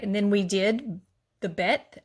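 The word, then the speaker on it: ב: All right, and then we did the Bet, as makes the B sound.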